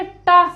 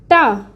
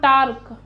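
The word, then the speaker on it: τ: Denote करते हैं किससे, टा से। प्रोनाउंस हम टा को करते हैं जब हम लिखने लगते हैं, तो ये कुछ इस तरीके से इसकी सैम्बल है, टा, ये, दिस इज टा, नॉट टार्क।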